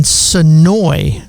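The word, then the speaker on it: Senoia: Riverwood Studios in Sonoy, right? I'm right about that, right? Sonoy. Yeah. So it's pronounced, it's spelled Sonoya, but you cannot say the A for some reason there.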